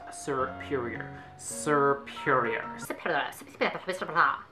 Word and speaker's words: Serperior: and this is such a hard name to pronounce a superior serperior mr.